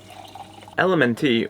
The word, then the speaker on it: LMNT: LMNT, or LMNT as it's pronounced, is a tasty electrolyte drink with everything you need and nothing you don't.